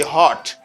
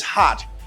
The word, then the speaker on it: hot: boiling hot it's boiling you do not say heart do not say it's hot say instead it's hot you know it's hot